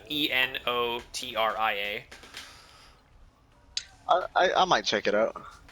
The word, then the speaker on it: Enotria: It's called Enotria, spelled with an E, so Enotria.